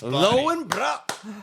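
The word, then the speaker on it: Löwenbräu: Lowenbrau. I don't know actually how to say it. Lowenbrau? Lowenbrau. Brow? Good. Brow. Lowenbrau.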